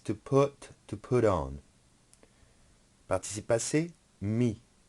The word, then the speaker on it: mis: Participe passé, mis. The S is silent.